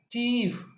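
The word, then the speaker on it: chief: field third one है सी एच आई ई एफ चीफ fourth one है बी ई एल आई ई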